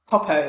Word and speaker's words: Popeau: So Popeau, if I pronounce that correctly? Popeau, it's French.